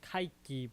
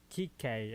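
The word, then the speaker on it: Kiké: I keep calling him Kike, but it's Kike actually. Because I actually found out how to say his name correctly.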